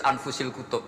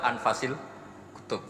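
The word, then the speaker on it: أنفس الكتب: Di sini ditulis anfusil kutub. Selalu saya baca anfasil kutub karena maknanya kitab terbaik. Kalau kitab terbaik bacanya bukan anfus tapi apa? Anfas.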